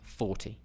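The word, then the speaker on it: forty: get confused have problems with defining 14 and 40 okay it's Dum d d dum dum D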